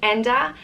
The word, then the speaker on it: Enda: the next name is Enda and it means bird-like or freedom of spirit it comes from the Irish word Ian which means bird and it's pretty nice exactly as it's spelt and duh and you